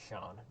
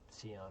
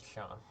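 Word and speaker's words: Sián: It's pronounced Sian, not Cyan or Cyan. I always pronounce it Cyan, but nope, it's Sian.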